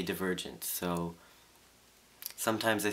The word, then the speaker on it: Divergent: Just to clear this up, it's pronounced divergent, but it sounds cooler to say divergent, so sometimes I say divergent, sometimes I say divergent.